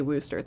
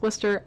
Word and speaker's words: Wooster: cat is people from Wooster I'm gonna say Wooster they tell me it's Wooster I don't care it's Wooster this bridge collapsed